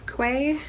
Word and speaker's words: Quay: sunglasses and they're from way or quay quay or key I think it's key I think that's how it's pronounced Australia this is hi